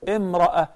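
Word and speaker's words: امرأة: This is how we pronounce التَاء المربوطة, the circle ta, if we stop at it, we say imra'a.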